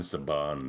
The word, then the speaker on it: Saban: Yeah, this I always called Sabin because I never heard it pronounced when I was a kid. It's Haim Saban, the guy.